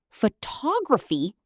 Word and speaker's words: photography: Stress the right syllable. Photograph, photography, photographic. Same word, different stress.